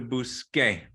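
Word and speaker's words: busqué: Yeah, because when the C is followed by an E or an I, it makes an S sound.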